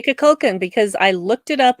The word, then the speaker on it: Kukulkan: Shatner yeah, pronounced it. We're just gonna say Kukulkan because I looked it up online, and that is how you say it.